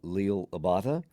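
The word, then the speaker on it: Liel Abada: Uh Leil Abata.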